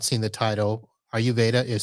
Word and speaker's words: Ayurveda: the video and have not seen the title ayurveda is spelled a y u r v e d